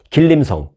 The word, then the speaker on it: 지린성: 길림성. 길림성이라고는 우리가 옛날에 많이 들어봤죠. 네, 그 길림성이 한국식으로 발음을 한 거고 중국식 발음을 하면 지린성입니다.